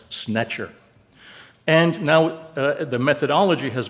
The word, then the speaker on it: sntr: here, which, believe me, is supposed to be pronounced snetcher.